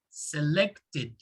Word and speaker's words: selected: like the first one select what is the last sound in select it's a t right so the sound is selected so all of the